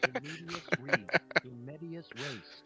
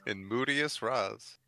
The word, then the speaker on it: in medias res: It had In 2 mood- pronunciations. In Moodius Raz.